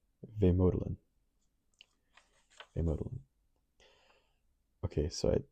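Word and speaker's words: vemödalen: usually borrows to give names to their products pronounced vodin VOD okay so I said VOD okay vodin makes sense so I guess essentially what this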